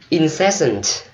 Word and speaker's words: incessant: Incessant. Incessant. Mình nhấn âm giữa ha.